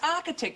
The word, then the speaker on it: architect: it's ditz architect it's architect it's pronounced with a K the Kelly I'll type